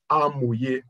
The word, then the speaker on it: Hamoye: But it's good to also let you know that Hamoye is a Yoruba word pronounced as Hamoye, which means the wise one.